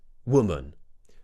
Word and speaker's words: woman: 14 is the word woman w w w so we're going from that small w w into a slightly more open round shape w w w w woman the plural is we